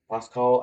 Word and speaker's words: Pascal: And then the last one is the Pascal case, and Pascal. I want to call it Pascal because I speak French, and that's the way they pronounce it in French language.